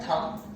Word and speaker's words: thumb: अच्छा, एक चीज प्रोनाउंसिएशन का रूल सीख लेते हैं कि ये जो है ना थंब, जब भी एम के बाद इंग्लिश में बी आता है, एम के बाद क्या आता है?